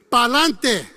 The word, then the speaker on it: Pa'lante: And the phrase is, and I'm going to spell it, P-A apostrophe L-A-N-T-E. Pa'lante.